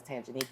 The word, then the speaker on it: Tanjanika: Obviously, when I introduce myself, because my name is Tanjanika, it's kind of like intimidating the way it's spelled, but when you sound it out, it literally is how it's said, how it's spelled.